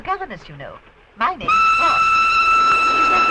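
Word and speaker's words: Froy: My name's Roy. Is that right? No, not Susan. Roy. Sorry, I can't hear. It rhymes with joy.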